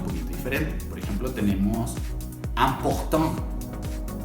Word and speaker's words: important: Por ejemplo, tenemos important. ¿Te fijas cómo la estoy pronunciando? Important. Imposible. Y con la IN es muy similar. Invitation. Internacional. Entonces, como an o como am. ¿Se fijan? Hago la nasal.